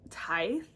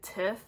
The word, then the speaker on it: tithe: But fun fact, Tiff, I've always pronounced it Tithe. Like Tithe by Holly Black. That's how I pronounced it, but until like recently, like maybe a couple months ago at church, they said Tiff and explained what it was, which means 10th. That fun fact, that's how I know how to pronounce it now.